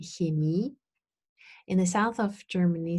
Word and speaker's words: Chemie: these different pronunciation options, but standard German is, in my opinion, Chemie.